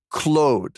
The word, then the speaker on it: Claude: It's actually Clo cuz his name's Clo. So we got to say Clo like all right.